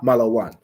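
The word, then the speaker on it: malawn: the shops SP hotel hotel is spelled malaan so m a l a w n ma la one m a m l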